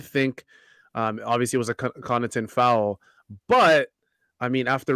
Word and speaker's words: Connaughton: But I will say, from Siakam's point of view, he did have Pat Connaughton. That's how you say it, right? It's not Connaughton. It's Connaughton. Pat Connaughton.